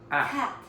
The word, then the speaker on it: cat: other A, it's that the one is smiley, cat, and the other is like round, like cut. Cut. So no, it's not round. You're dropping your jaw a bit more.